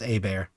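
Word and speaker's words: Hébert: Looks like Herbert. It's pronounced A-bear.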